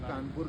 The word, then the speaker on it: कानपुर: महाराजा कान्हदेव थे, 1207 में कानपुर की स्थापना उन्होंने करी थी, कान्हदेव ने। अब कानपुर का ब्रिटिश का प्रोनाउंसिएशन की वजह से कौनपुर, इसकी 18 बार स्पेलिंग चेंज हो चुकी हैं।